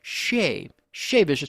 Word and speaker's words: Che Vicious: I don't know how you say it, but I say Che because that's how we pronounce things in West Virginia. If it has a CH on it, I'm going to say Ch, But they say Shay Vicious.